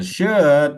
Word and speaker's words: should: No L. No L. Okay. No L.